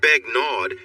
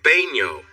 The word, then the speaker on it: Begnaud: It's not Begnaud, it's pronounced Baigno. The D? It's silent. Sarah tried her best to